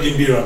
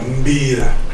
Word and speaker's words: Mbira: Not Mbira, Mbira.